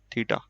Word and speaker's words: थीटा: वाला है, ठीक है, which is pronounced as थीटा।